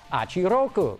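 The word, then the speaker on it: Hachi-Roku: The first of these is the FT-86 concept car, which Toyota says is pronounced Achiroku, which means 86.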